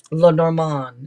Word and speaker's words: Lenormand: card where La Norman might have five yeah La Norman is how you say it but La Norman